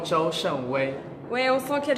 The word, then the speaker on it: Zhou Shengwei: Et le réalisateur est ici avec moi, il s'appelle Su Chengwai. Et je le dis mal, comment on dit? Hi. How do you say it? Zhou Shenwei.